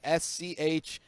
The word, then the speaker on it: Schlitter: where I am fully protected the thing is s-c-h-l-i-t-t-e-r okay I want to say it's Brian yeah